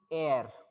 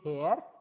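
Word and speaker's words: heir: Here also you people have to remember that this is air. You should not say hair. H is silent.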